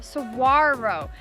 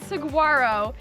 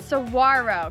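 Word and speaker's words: saguaro: So, these are called suarro. We've been saying them wrong this whole time. It's not saguarro. The G is silent. Sarro cacti.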